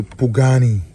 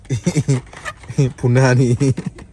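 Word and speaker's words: Pagani: We have the Pugani. Optia Pugani. Just a quick note. The first day I saw this Pugani, I pronounced it the wrong way. I was like, Punani.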